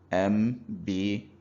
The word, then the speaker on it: Mbo: So, for example, a word that is spelled M-B-O with dot, that is M-B-O in Igbo. We can assign high tone to the M and the word will become Mbo.